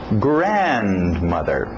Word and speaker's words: grandmother: então nephew ne grandmother grandmother grandfather importante essa batida no início grandmother grandfather grandmother Lembra